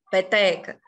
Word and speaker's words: peteca: Peteca, peteca. No T, ali, a gente tem o acento tônico.